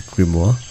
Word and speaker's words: grimoire: is detective grimoire yes I checked the pronunciation of the the game title it is grimoire and it's supposed to